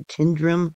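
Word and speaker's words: Tyndrum: The actual pronunciation for this fault would probably be the Tindrum fault.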